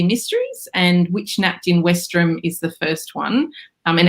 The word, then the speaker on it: Westerham: It's actually spelt Westerham, which is how I would have said it. But apparently the Brits pronounce it Westram. So losing a few letters in there.